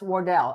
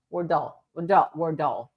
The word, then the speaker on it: Wardell: It's pronounced Wardell. Okay, Wardell. Okay, Wardell.